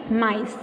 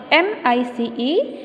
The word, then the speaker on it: mice: there are three blind mice m i c e mice so you will speak i and e will be silent now do practitioner 3